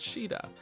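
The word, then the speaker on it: Shiida: the castle it's princess sheta it doesn't look like it should be should be pronounced that way but but apparently that is the way to pronounce it Shah what is it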